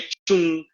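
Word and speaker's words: Trung: जैसे लिखेंगे ट्रुंग और पढ़ेंगे चुंग, चेंग, ऐसे सब रहता है।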